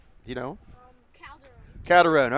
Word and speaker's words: Calderon: Calderon.